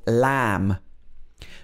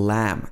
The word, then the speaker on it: lamb: another common pattern is when you have a b after an m the b is often silent for example lamb mary had a little lamb this is a common